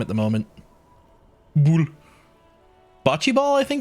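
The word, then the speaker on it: boule: You can go back to the fact that it's pronounced bull.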